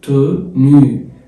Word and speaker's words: tenue: tenue التي مع الاو تبقى tenue لان اليو بالفرنساوي بتتنطق او تبقى tenue الاو في الاخر ما بتتنطقش.